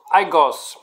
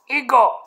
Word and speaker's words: higos: we have to read most north americans say los aigos high ghosts those high gut no no high ghost ego ego don't pronounce the h very few north americans